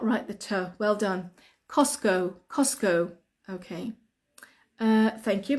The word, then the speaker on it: Costco: think we call it Costco so the T cost Co we don't pronounce the T we just say cos